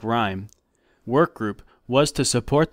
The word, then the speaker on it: RYM: main goal of storms R ym pronounced like rhyme work group was to